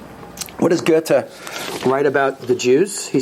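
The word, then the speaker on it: Goethe: johan wolfgang van gotta don't pronounce his name gothi people think you're not well educated what does gerta write about the jews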